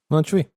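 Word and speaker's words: Montjuïc: Montjuich? Montjuich.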